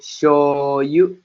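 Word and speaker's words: しょうゆ: Nah, show-nya itu bukan si, yo, dan u atau yu. Nah, jadi bukan si, yo, namun dibacanya bergabung ya menjadi shoyu.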